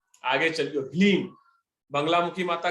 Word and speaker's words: ह्लीम: त ई ह्लीम जे मंत्र छै, ह्लीम एकरा पढ़नाइयो एना छै, साथ में छै ने त ह्लीम पढ़बे, एना नहीं कि हलीम पढ़ देबे, ठीक छै।